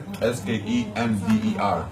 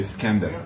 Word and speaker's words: Skender: Okay, you pronounce it Skender. It's flat. We usually say Skender. Iskandar. Just like Skender.